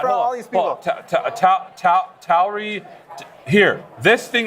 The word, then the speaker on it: Tauri: Tauri.